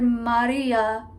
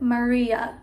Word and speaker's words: Maria: phrase tell me Maria he sings it like I just said it Maria without that little Maria without the flip of the r without the more rounded ma sound it's more of Mia so that's more of like a pop pronunciation more of a casual pronunciation less of the um traditional and Latin pronunciation and I could easily